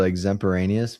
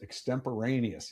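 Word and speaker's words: extemporaneous: I've learned learned what exempiraneous means. Exemporaneous. You got to pronounce it.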